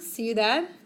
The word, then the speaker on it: ciudad: So careful, because we know the word ciudad, which is C-I. And it makes an S sound, ciudad.